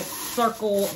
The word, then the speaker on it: Cirkul: in um all right so i've got my circle water bottle right here nice that's nice i've